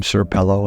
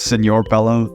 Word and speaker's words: Senor Pello: I used to call him Sir Pello until I found out that it was Senor Pello.